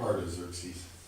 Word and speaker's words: Artaxerxes: Artaxerxes.